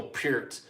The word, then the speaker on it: Peart: was one where like Geddy Lee introduces Neil Peart, not Pert for anybody wondering. So if Geddy Lee says it, that must be how it's said.